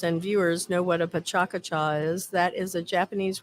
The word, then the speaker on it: PechaKucha: word for chit chat some people pronounce it uh pechakucha which is not the way you're supposed to say it it's supposed to be pachaka cha and it is there